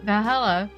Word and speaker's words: Valhalla: Good thing it's actually called Valhalla. The funny numbers and letters are just a code.